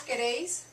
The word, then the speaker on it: queréis: Vosotros queréis. Accent on the E.